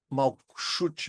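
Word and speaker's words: Malkuth: Se convencionou no Brasil se escrever malcut, né? Mas obviamente a pronúncia com aquela letra ali no final é mal cut, malute.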